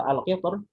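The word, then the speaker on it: القطر: Kalau al-qilter di surat Saba ya, di surat Saba itu di surat 2 lebih diutamakan tarkik. Lebih diutamakan tarkik. Al-qilter gitu.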